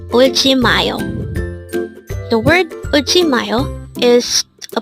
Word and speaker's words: 울지마요: 울지마요. This is pronounced as a 4-syllable word.